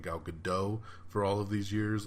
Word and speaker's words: Gadot: came from the 8th movie it is officially get dot it is basically pronounced GA do TT gadot so I'm sorry gal I love you please don't be mad at me for saying gal gadot for all of these years it is gadot